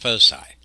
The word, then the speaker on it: foci: a latin word and the plural of focus in latin is spelled this way and usually pronounced foci and so we can